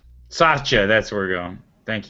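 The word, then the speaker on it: Satya: you say his name that's not sachet sacha that's where we're going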